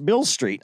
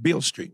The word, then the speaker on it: Beale Street: came up playing on Bill Bill Street I can't even say it right Beale Street yeah and he came